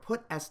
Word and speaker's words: puts: It's something that does something, and it's called puts. Some people also pronounce it put-s, and that S in put-s stands for string.